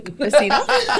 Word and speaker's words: cafecito: pronounced correctly, cafecito.